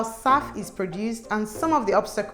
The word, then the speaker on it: SAF: As airlines face pressure to reduce their carbon footprint, many firms are looking to sustainable aviation fuel, abbreviated as SAF and pronounced as SAF, as a way to cut CO2 emissions without replacing existing jet engines.